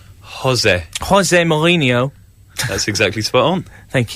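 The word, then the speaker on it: José Mourinho: Jose Mourinho.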